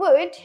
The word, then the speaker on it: would: Ketika kita bilang would, jangan pronounce atau jangan lafalkan L-nya. Jadi langsung saja would without L.